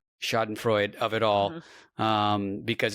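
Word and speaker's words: Schadenfreude: But um this is going to be a very I I'll luxuriate in the Schroden Shaen Freud. Someone corrected me on how I pronounce it. Mhm. Shoden Freud of it all.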